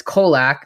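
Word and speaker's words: Colaque: so so last card it's kolac it's got a q and it's got a ue at the end which confused me uh it's kolach seven mana six five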